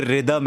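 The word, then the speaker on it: rhythm: तो जरूर पूछा है कि जब बोलते रिदमम है तो रिदमम क्यों लिखते हैं? जैसे ऋितिक रोशन है ना कि उसमें एच जो है वो साइलेंट है वैसे ही रिदमम उसमें वो एच जो है वो साइलेंट होता है तो इसलिए वो रिदमम हो जाता है।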